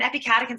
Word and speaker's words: epicatechin: If you break it up into 3 words, epic 8 chins is how it's spelled.